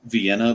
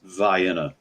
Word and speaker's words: Vienna: town in south Georgia is spelled like Vienna but it's Vienna not far from Dublin